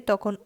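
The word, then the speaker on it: tè: একটা ব্যাপার এখানে খেয়াল করবেন, কাফে শেষের ই এবং তে এটার শেষের ইর উপর একটা দাগ আছে। যখন এই দাগটা থাকবে তখন ওই শব্দের উচ্চারণটা একটু জোর দিয়ে করতে হবে, যেমন কাফে তে।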